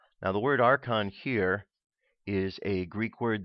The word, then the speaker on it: archon: any religious or governmental authority hence the plural archons is often described the Gnostic texts as the